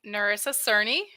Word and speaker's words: Nerissa Cerny: I am Nerissa Cerny and currently living in Phoenix, Arizona, and I work for Harley-Davidson.